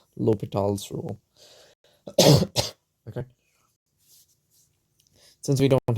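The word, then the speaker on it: L'Hôpital: this under the name l hospital's rule though the guy was french so it's pronounced in my horrible imitation of how it should be pronounced it's pronounced l'hopital's rule okay since we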